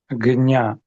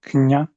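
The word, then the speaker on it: ज्ञ: And it comes across pretty clearly as So, Marco, could you repeat slowly and clearly your preferred forms? Gnya. Knya. Knya. Go with a g then.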